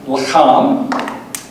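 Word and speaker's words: לָחַם: Okay, so the one on the right is pronounced lacham, and the one on the left is pronounced lechem.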